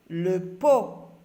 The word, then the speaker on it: pot: Le pot. Le pot. La lettre T est une lettre muette.